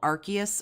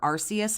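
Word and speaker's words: Arceus: them I played um I don't know if it's called archus or arus I've heard it pronounced both I played the [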